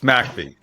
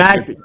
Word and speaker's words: McBee: It's McBee. That's it's what McBee.